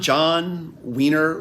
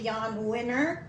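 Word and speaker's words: Jann Wenner: included publisher uh and I never know if I say it right John John Wier winner um of Rolling Stone magazine it's actually Yan wner wner wner okay but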